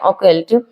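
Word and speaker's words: occult: Okay, इसका सही pronunciation है ओकल्ट।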